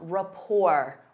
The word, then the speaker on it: rapport: Instead of saying, "They work well together," you can say they have a strong rapport. Rapport. Notice that T is silent.